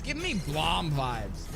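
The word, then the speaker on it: BLAME!: It's giving me Blom vibes. Like the anime Blom. B-L-A-M-E. Spelled like blame, but it's Blom.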